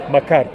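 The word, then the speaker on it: مكر: the greatest of deceivers Mak Mak yeah that M A KR in English but it's pronounced in Arabic marar Mar and uh I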